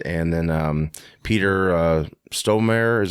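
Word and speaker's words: Stormare: Gabriel in it and then um Peter uh stonemere is how you say his name he played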